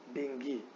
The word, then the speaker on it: dengue: ठीक है, लेकिन when the word is pronounced in English, it is not called dengue, it is called dengue.